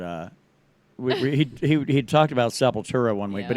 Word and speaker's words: Sepultura: we he talked about Sepultura one week but he pronounced this uh sepultra which has been kind